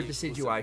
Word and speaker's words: Decidueye: look at the uh that is the Canon pronunciation for decidueye Shirley Pokemon that you can get from the